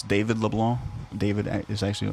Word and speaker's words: Leblanc: to be silence see an american you you pronounce all the letters like it's not boudin it's boudin dude i haven't it's not leblanc is leblanc and look like this is that richard it's